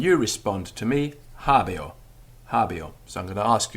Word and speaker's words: habeo: habeo i have habio now although this is spelt h-a-b-e-o we know from the roman grammarians themselves that the sound of this e in habio was closer to an i sound than an e sound this is an occasion where the sound is influenced by its environment so it's not habe or it's habio habio and in fact in